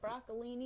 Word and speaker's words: broccolini: is it is that how you say it broccolini yes i am going to try to grow